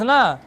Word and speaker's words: know: अब देखो नो याद हो, क्या है, कुनो पढ़ेंगे, कुनो क्या पढ़ेंगे, हाँ कुनो नहीं पढ़ेंगे। यहाँ पर के क्या है, साइलेंट है, नो माने जानना।